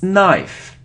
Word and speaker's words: knife: isn't knife on if it's knife knife so we don't pronounce K so we don't pronounce K if there is so this letter n after it's a knife knife like no no okay so you see lettuce